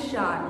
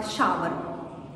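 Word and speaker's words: shower: Pronounce it शार, नॉट शावर।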